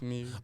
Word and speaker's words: Muir: It's like M-U-I-I, but it's pronounced Mew. Oh, so, David Muir.